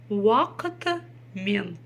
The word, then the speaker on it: уақытымен: Вакытымен. Ударение ставится на последний слог, потому что там стоит буква Е.